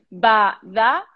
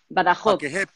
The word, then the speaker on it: Badajoz: Como raspando un poco más la J de... Badajoz. Para que sepas, Medellín es un municipio de España. Badajoz.